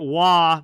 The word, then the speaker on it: Roy: to go well actually nikwa on Vegas pronounces it wah Matt Roy on on um La calls it or pronounces it Roy like Derek Roy did as we get